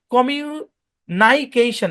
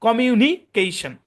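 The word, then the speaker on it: communication: তো এখানে হওয়ার দরকার ছিল নাই, কমিউনাইকেশন এভাবে হওয়ার দরকার ছিল, কিন্তু যেহেতু এটা মাল্টি সিলেবিক ওয়ার্ড, আইটা ওপেন সিলেবলে আছে, সুতরাং এটা শর্ট সাউন্ডে কনভার্ট হবে নি, কমিউনাই না কমিউনিকেশন, মনে রাখবেন।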